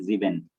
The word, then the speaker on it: sieben: over there like S is pronounced as Z. Yes. Okay. Like instead of saying 7, you have to say Sieben.